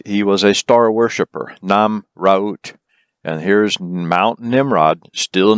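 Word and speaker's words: Nemrut: This is at the top of, or near the top of the summit of Mount Nimrod, or Namraut, if you want to pronounce it correctly, from ancient Akkadian.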